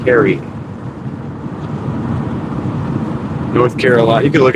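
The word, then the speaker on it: Cary: I don't know what you said, but it's spelled C A R Y. Carrie.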